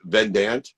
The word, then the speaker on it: Vidant: So, and I pronounce it wrong all the time, but it's Vidant. Vidant. So there we go. See, it's more French than I thought.